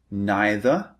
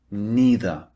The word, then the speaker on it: neither: They have alternative pronunciations that you might hear native speakers using. You can say neither or neither. These are the two alternatives. And you can say either or either. Slightly different. These are the alternative pronunciations.